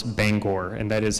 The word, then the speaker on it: Bangor: By the way, I did watch a YouTube video on how to pronounce Bangor, and that is how they say it.